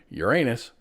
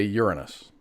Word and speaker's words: Uranus: And there are two two acceptable pronunciations of the planet Uranus. You can say Uranus or you can say Uranus.